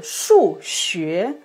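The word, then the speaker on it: 数学: Le jour de son choix, il a prononcé Shu Xue, le premier don Shu, le troisième don Xue, qui veut dire la transfusion sanguine, à la place de Shu Xue, le quatrième don Shu, le deuxième don Xue, les mathématiques.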